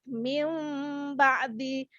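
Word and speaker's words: مِنْ بَعْدِ: Nun sukun tersebut digantikan dengan huruf mim yang disamarkan. Sepanjang berapa? Penyamaran serta pendengungannya sepanjang dua harokat mim ba'di.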